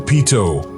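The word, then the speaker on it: Peyto: gave it its name locals pronounce it Pito ideal time to travel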